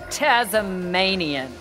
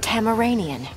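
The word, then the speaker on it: Tamaranean: So you're Tasmanian. It is pronounced Tamaranian. Tama...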